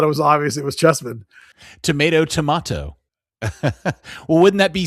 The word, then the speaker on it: Cheesman: Oh, you pronounce that chess. Okay. It's not SEMAN. It's just SMAN. So I think it's Chessman.